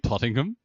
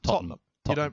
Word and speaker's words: Tottenham: I think it's the name Tottingham. You have to. Tottenham. You don't pronounce the E in the end.